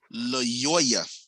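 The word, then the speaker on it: Lyoya: Hundreds of people protested because a black man in Michigan, I believe his name was Patrick Loyoya. I think that's the proper way to pronounce his name.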